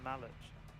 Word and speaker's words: Malach: It's not mac and cheese, it's Malach. What? It's Malach, you just mispronounced his name.